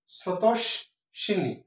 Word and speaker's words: স্রোতস্বিনী: স্রোতস্বিনী, স্রোতস্বিনী সঠিক উচ্চারণ হচ্ছে স্রোতস্বিনী, অর্থাৎ শটা দুইবার উচ্চারিত হচ্ছে, তাহলে এখানে বফলাটা হবে।